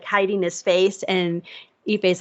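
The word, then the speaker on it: Ippei: Albert Pujols asked Shohei's interpreter, Ipe, is that how you pronounce his name, Ipe?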